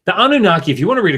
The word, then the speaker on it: Anunnaki: So when you come to the form Anunnaki, Anunnaki, in the 1st millennium in these Akkadian texts, what they're trying to represent is probably Anunnake, right? Which is what we have in the Sumerian.